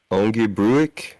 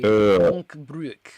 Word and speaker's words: Ongebruik: I'm looking at this map here, and I remember Ongebruik. Is that how you pronounce that? That would be Onkbruik.